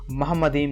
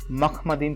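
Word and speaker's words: מחמדים: पहला इब्रानी भाषा में इस शब्द को महम मदीम नहीं मख मदीम प्रोनाउंस किया जाता है तो क्या मख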